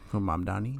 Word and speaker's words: Mamdani: Because I felt like once again bringing up the new guy, from Mamdani.